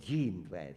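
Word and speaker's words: Jean Drèze: not here, Ron Dwez, he's here called Jean Dwez, isn't that right? Because that's the name, it's spelled like G-A-N.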